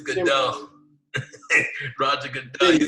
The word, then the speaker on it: Goodell: I said his name wrong. It's Goodell.